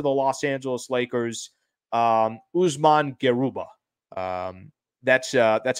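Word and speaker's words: Usman Garuba: real asset to the Los Angeles Lakers um Usman geruba um that's uh that's how you pronounce his name there so I looked at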